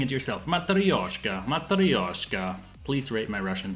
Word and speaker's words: Matryoshka: It is Matryoshka. Yeah. Y-N-O. Yeah. Thank you, Sergey. So now try saying it yourself. Matryoshka, Matryoshka.